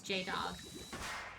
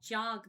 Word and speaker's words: Jay Dog: Well, I think you actually did pronounce my name wrong. It's Jay Dog. Oops. I've been saying like jog this whole time.